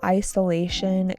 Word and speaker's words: isolation: The feeling of isolation grew stronger. Isolation. With the emphasis on the third syllable, isolation.